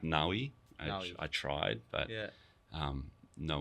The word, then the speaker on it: Navi: It's pronounced Nawi.